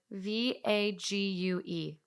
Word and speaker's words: vague: you pronounce the word v-a-g-u-e it's peg big vague is pronounced vague and rhymes with craig or is it crag